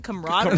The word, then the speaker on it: camaraderie: Hill and then Tua goes like you mean camaraderie camaraderie he's like yeah how do you say